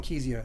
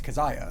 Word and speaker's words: Kezia: I used to call their first album Kezia, and it's Keziah.